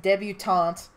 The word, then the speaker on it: debutante: yes I'm sorry okay as the southern native I can officially say it's pronounced debutante funny cuz mailing is